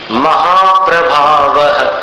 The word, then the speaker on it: महाप्रभावः: महाप्रभावः, ऐसा विसर्ग का भी प्रभाव आना चाहिए उच्चारण में।